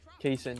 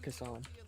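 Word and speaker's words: Cason: Kayson, not Kason.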